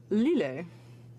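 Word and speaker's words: L'Islet: And it's actually pronounced Lille, but don't worry about it.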